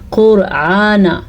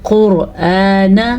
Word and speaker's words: قرآن: پڑھا قرآن۔ اچھا جی، حمزہ کو آرام سے نرمی کے ساتھ پڑھنا ہے، لیکن لمبا بھی کر کے پڑھنا ہے، کیونکہ یہ حمزہ ہے۔ اکثر لوگ اس کو عین بنا دیتے ہیں، یعنی کہ پڑھتے ہیں قرآن، غلط، یہ ہے قرآن، نون کو لمبا نہیں کرنا۔ لِذِّکْرِ، اچھا زال کو نرمی